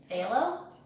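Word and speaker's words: Phthalo: It's like halo with a PH, so. Phalo?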